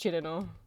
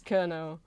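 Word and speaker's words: Cirno: It doesn't look like it would be pronounced Chidino, but it is pronounced Chidino. It looks like maybe you'd pronounce it as Kerno, but it's not.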